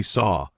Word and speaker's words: saw: So, actually, saw feels like it should rhyme with door, right? It's the same sound.